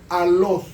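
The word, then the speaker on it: ἄλλος: La palabra otro en el griego es alos, se escribe A-W-L-O-S.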